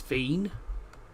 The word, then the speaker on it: Wien: Um because for anyone who doesn't understand if you're in Austria um if you if you're German uh the German name for Vienna is fine.